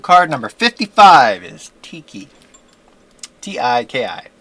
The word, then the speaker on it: Tiki: T-I-K-I. Tiki. I think is how you pronounce her name.